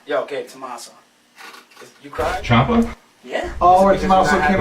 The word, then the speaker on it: Ciampa: Champa. I hate when people pronounce his Ciampa. name Ciampa. Yeah. I hate that. That's not his name.